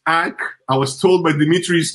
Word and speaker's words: AEK: Ajax will travel to Greece to play AEK, not Athens. AEK.